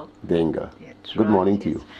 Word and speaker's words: d'Engle: Help me pronounce the second name. Dengel.